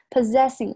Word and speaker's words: possessing: tobacco product， possessing 注意下这个 possessing 这里是 z 的音 possessing 虽然都是 ss 但前后的读法是不一样的一定要注意 any lit tobacco lit